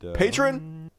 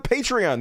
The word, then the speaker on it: Patreon: D how am I saying it's patreon right Patron patreon patreon that's what it is anyway I don't give